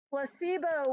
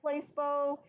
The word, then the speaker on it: placebo: talked about in class yet that is our Placebo which does indeed look like Placebo but is not pronounced Placebo it is pronounced la C and the accents